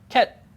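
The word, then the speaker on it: KHET: The first thing is, the code is, how do you think you pronounce this? Ket.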